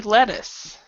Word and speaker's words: lettuce: And this with the two T's, usually if it's a 2T, it's a D sound, lettuce.